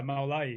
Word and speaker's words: Mawlayee: Mawlayee. Mawlayee? I'm trying to do it phonetically. Close. Okay. Yeah, Mawlayee.